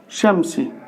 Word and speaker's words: الشمس: الشمس، لاحظ عند اللفظ نقول طلوع الشمس. فإذا للتعريف الشمسية الموجودة في هذا الموضع لا تلفظ، وبالتالي لا تنزل عند الكتابة العروضية.